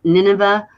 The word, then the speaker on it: Nimue: that is in here is nimue sometimes pronounced nineveh um and even morgan